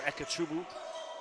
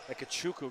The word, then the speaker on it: Ekachuku: Madeleine skates in for ekachubu ekachuku excuse me I had him phonetically spell it out to me before the game foul on Orangeville a